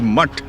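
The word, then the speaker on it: Math: That is, they call it Mote Hall, which actually the real word is Mutt, not Mote, it's Mutt.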